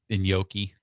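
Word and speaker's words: gnocchi: I always pronounce this inki okay like it starts with an N. I know it's just weird because you think it starts with it starts with a G but don't pronounce the G.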